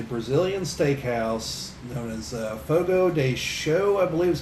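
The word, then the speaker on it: Fogo de Chão: steakhouse known as uh fogo day show i believe is how you're supposed to pronounce it but it looks like it's ciao but i believe it's pronounced show or something to that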